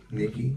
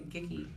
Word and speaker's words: Nikki: Nikki. All right. Because sound like you're about to say Gicky. No, Nikki.